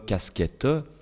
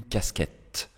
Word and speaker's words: casquette: vous connaissez c'est que en fin de mots la lettre E tombe ne se prononce pas d'accord ça c'est vraiment une règle de base à connaître ici le E je ne dis pas une casquette non je dis une casquette une j'entends le N et le casquette j'entends